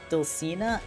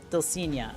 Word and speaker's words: Dulcinea: It is the Dulcina? Dulcinea? Dulcinea.